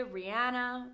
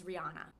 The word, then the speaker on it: Rihanna: So a lot of people say Rihanna, but the correct pronunciation is Rihanna.